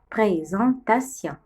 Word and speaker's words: présentation: Avec moi, répétez pour savoir lire, pour savoir dire présentation.